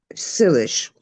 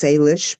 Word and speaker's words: Salish: I'm an Okanagan descendant which is sish uh often pronounced Salish by Americans and a little bit